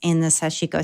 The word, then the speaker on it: sashiko: And so, okay, it's sashiko.